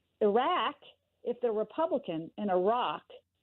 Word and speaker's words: Iraq: The word is spelled I-R-A-Q. Well, I say Iraq. I say Iraq.